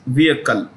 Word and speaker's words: vehicle: electric vehicle battery maker when you pronounce the word vehicle the H is silent so it becomes vehicle technology completely limited but